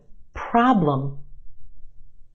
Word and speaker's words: problem: syllables in this word our first syllable is emphasized the ah problem is stretched and emphasized in the first syllable our second syllable is where you have your schwa problem problem what's the